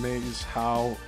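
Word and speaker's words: Maes Howe: And Maze How, which is spelled M-A-E-S for the first word and H-O-W-E for the second.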